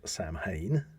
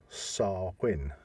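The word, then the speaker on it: Samhain: people uh pronunciate it as Sam Hayne yeah but it should be sarwin really yeah no that's interesting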